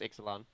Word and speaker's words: Ixalan: I don't even know if I even pronounced that correctly. It's Ixalan.